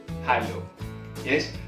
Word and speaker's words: hallow: Hallow. Yes.